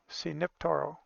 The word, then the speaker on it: Siniptoro: C like Spanish or Italian C, and Nip and Toro. Siniptoro.